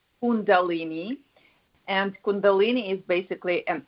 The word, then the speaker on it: Kundalini: you could pronounce that calini condal it's pronounced Kundalini and Kundalini is basically